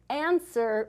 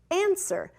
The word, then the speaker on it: answer: So here is our word for today, answer. And let's spell it together. A-N-S-W-E-R. Answer. This is a tricky one. Do you hear the W sound? Answer. I don't hear it either.